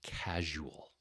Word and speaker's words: casual: This one is casual. There's a zh sound in it, and it's a particularly hard word for a lot of second language speakers.